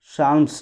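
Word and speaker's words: Psalms: सामवेद जो है संगीत के लिए जाना जाता है एंड इट इज़ the complexion of साल्म्स। ठीक है, पी साइलेंट हो जाएगा।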